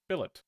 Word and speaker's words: billet: we need a wood Billet before Billet Billet okay Bill it making sure it wasn't like a b a ba we've had we had